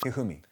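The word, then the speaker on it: 一二三: I mean, is pronounced Hifumi.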